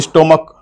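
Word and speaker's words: stomach: वैसे ही स्टमक आखरी में सी एस तो है लेकिन इसका उच्चारण चयन हो के क हो रहा है। स्टमक हम बोल रहे हैं।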